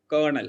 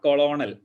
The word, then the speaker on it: colonel: a kernel or pint you usually pronounce as kernel it is not colonel it's kernel find it is not